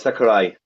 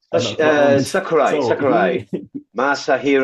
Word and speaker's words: Sakurai: It's Sakurai. Hideo. No. Smash. Oh no! I'm sorry. I think I've got retardation in my mind. Sakurai.